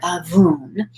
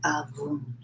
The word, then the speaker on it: Abwoon: So the word avun, spelled Abwoon, and I'm pronouncing it as well as I can. I think that's right.